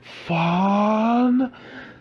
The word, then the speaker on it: Fandango: You know, of, you have to pronounce my name. It's Fandango. No, not Fan.